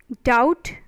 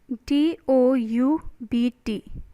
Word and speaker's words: doubt: silent walk next is doubt d-o-u-b-t doubt so b is silent okay uh when you